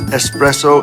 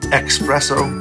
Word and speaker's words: espresso: clumsy version of shelburne does it bother you when people pronounce espresso as expresso drives me crazy yeah yeah how much